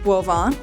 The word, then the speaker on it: Boivin: So boven is pronounced guan which is wine in French.